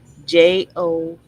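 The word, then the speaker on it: João: Oh, here it's going to tell me how to pronounce it. Let's see. Joa. That's what it is.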